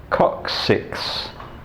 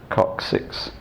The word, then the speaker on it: coccyx: And that also explains why your tailbone is pronounced coccyx, because the Y stands for an I, so it's C-O-C, the first C followed by second C, first C is K, second C is S, coccyx.